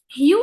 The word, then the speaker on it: hew: Hue is a verb, okay? And here we need to know that this hue is pronounced the same as hue that's written like this.